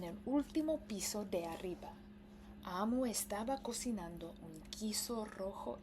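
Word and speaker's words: Omu: So this book is called Gracias Amo, Oge Mora. Nota al lector. Amo, pronunciado amo, es la palabra para reina en Igbo.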